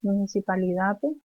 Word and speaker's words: municipalidad: El castellano es municipalidad. Se pronuncia la D de la palabra.